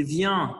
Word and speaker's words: viens: Par exemple, venir, je viens, c'est viens avec le « in » nasal.